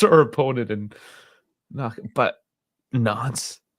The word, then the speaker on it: Nantes: But Nantes. Knots, guys. It's one of those French names that it's like it looks like you pronounce all the word, but you don't.